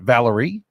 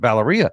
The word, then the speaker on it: Valeria: Valerie. How did I say it? Valeria. Oh, interesting. The A is silent.